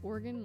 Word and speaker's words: Oregon: oregon oregon see i i pronounce it organ like you know like the musical instrument but i've heard um